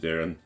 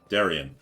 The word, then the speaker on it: Darian: Never change, Darren. Never change. Darian. Darian! His name is Darian. Pronounce it correctly.